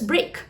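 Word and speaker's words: brake: However, the second word is also pronounced as break. However, the spelling is very different. It is spelled as B-R-A-K-E. It sounds the same, but the meaning is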